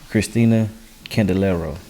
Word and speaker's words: Kristel Candelario: Kristel Candelario. This is how you pronounce her name.